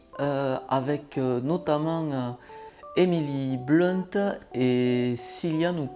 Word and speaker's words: Cillian: blunt et cylia nous cillian murphy je ne sais pas je pense qu'on dit plus tôt qui viennent leur fille parce que s'écrit avec un c est pas avec un cas comme kilian bape est par exemple et donc